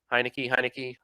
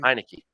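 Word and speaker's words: Heinicke: So Heineke, I'm not sure how it's pronounced. Like Heineken. Heineke. Okay, Heineke.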